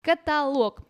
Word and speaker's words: каталог: каталог всё что налог имеет ударение налог монолог каталог Да там диалог какой-нибудь